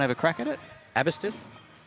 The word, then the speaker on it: Aberystwyth: Aberystwyth?